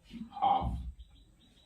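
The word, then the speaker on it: half: क्या साइलेंट है इसे पढ़ेंगे एच ए एल हाफ यानी की ए साइलेंट इसलिए ए का इस्तेमाल नहीं होगा फिर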